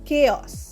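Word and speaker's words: chaos: কেয়স সি এইচ এ ও এস কেয়স। কেয়স মানে বিশৃঙ্খলা।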